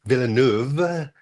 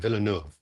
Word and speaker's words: Villeneuve: Um, so it's Duni, Duni, Villanuv. And, uh, a lot of French folks said, "Don't say Villanuv with a V. It's a soft F at the end. Villanuv."